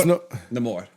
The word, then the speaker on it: Namor: It's Namor. no more. Yeah. Throw a little accent on there. Namor.